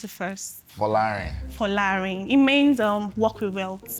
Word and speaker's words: Folarin: You know, I didn't pronounce it first. Folarin. Folarin, it means "walk with wealth".